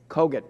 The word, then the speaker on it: Kogut: There really are three pots of money, and I'm sorry, ma'am, you're Ms. how do you say it? Kogut, pardon me.